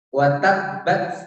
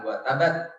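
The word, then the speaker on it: وتبّت: Watabbat yadahu, bukan watabat ya.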